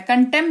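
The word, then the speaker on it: contempt: of court लगा दूंगा तो कंटेम क्यों नहीं बोलते हैं क्योंकि पी और टी वाला लॉजिक यहां पे लग जाता है पी है उसके जस्ट बाद टी है तो कंटेम नहीं कंटेम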